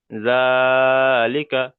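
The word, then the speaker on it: ذٰلِكَ: জালিকা। আচ্ছা প্রথমে চলেন আইনুদ্দিন ভাই চলেন প্রথমে বানান করেন যারা করেন।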